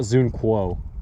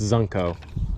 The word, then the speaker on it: Zunko: pronunciation of your name it's not zqo it's zunko so good to know